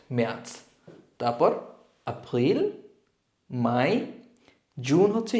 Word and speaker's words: März: সো জানুয়ারিকে বলবো আমরা ইয়ানুয়া, ফেব্রুয়ারি হচ্ছে ফেব্রুয়া, মার্চ মেয়ার্চ, এখানে আউমলাউট মেয়ার্চ।